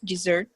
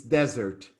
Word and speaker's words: desert: cecilia sorry for joking it's desert yes okay however dessert is with double s and is as oscar said after lunch is the best thing you can get a dessert okay like a chocolate